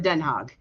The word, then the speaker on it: Den Haag: And yes, Quentin, when they pronounce it with the hardcore G, it's like, ugh, seriously? It's like, no. I call it Den Haag.